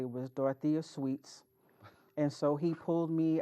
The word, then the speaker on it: Dyotha Sweat: Clark, he could never pronounce my name correctly. It was Dyotha Sweat.